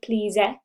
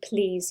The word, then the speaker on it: please: in the word please this e is silent we don't say please we just say please you actually can't hear